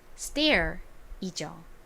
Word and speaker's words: stair: 계단이라는 의미의 단어이죠 발음은 stair이죠 따라해 볼게요 stair 여기서 t가 s의 뒤에 나온 경우에는 된소리처럼 조금 센 소리가 난다라는 점 설명드렸었죠 자 이제 다음 or로